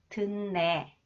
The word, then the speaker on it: 듣네: Okay, nasalization, the second one, when the final consonants 디귿 combines with 니은 or 미음, it is pronounced 니은, 느 sound.